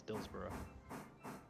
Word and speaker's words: Dillsborough: Also, once again, I am very happy that you started pronouncing it as Dillsborough.